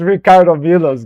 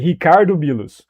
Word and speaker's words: Ricardo Milos: It's Ricardo Milo's guy. It's Ricardo Milo. By the way, I'm pronouncing his name wrong. I'm pronouncing his name as an English person would. It's actually Hicardo Milus.